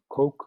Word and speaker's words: Koch: be a void method cook is the way I pronounce that coke or other pronunciations yeah scoop so we'll